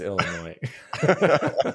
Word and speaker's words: Illinois: That's not how you say it. It's Illinois.